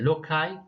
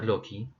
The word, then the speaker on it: loci: to loci in general this also uh can be pronounced as uh lokai or loki or losai so the genotype refers